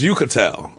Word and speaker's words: Uchitel: That's how you say her name, right? It's Uchitel. Oh, I always went with the Ook.